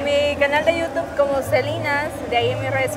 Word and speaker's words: Celinazz: Celinas en YouTube, pero Celinas, o sea, con Z. Celinas. Supuestamente es la pronunciación de la Z.